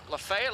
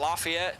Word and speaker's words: Lafayette: 566 on Jesse marel Lefay at Louisiana I know I'm from Indiana we call it Lafayette but there is a Lefay at Tennessee like 45 minutes away and they say it wrong 476 and the Danny